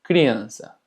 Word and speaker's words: criança: Ahora, seguramente te percataste de la cecilia, que realmente no tiene mucho chiste, se pronuncia exactamente igual que una S. Como en este ejemplo, criança.